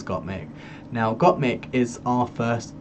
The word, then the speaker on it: Gottmik: She's correcting people all the time because they always say her name's got milk and it's Gottmik.